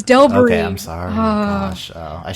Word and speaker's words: Delbarys: Oh, I've been pronouncing that wrong. Okay. How have you been saying it? Delbari. No, it's Delbury.